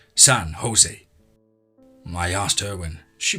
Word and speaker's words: San Jose: i told her that in california they pronounced it like in spanish the jay is h and said san jose i asked her when